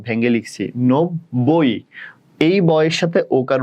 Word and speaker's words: নব্বই: ব যুক্ত বর্ণ, ব হসন্ত, ব ভেঙে লিখছি, নব্বই। এই বয়ের সাথে ওকার উচ্চারণ হয়, আর এটাতে অ উচ্চারণ হচ্ছে না, নব অ উচ্চারণ হচ্ছে না, ওই জন্য এটাতে হসন্ত।